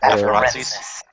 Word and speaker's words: afarensis: How do you pronounce the last one? Afarensis.